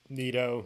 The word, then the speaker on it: Nitto: uh you guys always tell me how to pronounce this and i forget n-i-t-t-o neato nitto uh stem so these have a better